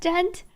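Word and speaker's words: Ghent: Oh, the D is silent. Sorry for mispronouncing Gent. No D, just Gent.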